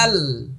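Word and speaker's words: ذال: এই যে দেখেন একটা আওয়াজ জমাচ্ছি আমি শুরুতেই, জাল, জাল। ওকে, আমি আবারও বলছি, জাল।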